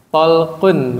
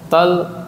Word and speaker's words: Talq: Talqun, Pak. Ibnu Hubaib. Kalau dibaca sambung Talq ibnu Hubaib. Kalau diwakaf Talq dong gimana? Talq gitu.